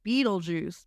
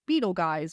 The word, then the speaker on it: Beetlejuice: German version yeah yeah so it is still pronounced Beetle Juice but they decided to have the name be spelled like fanatically like Beetle Juice so people didn't get confused and called it like Beetle guys Beetle which I think in the movie um